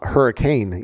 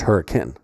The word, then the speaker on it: Hurricane: And also it is not hurricane Utah. It is hurricane.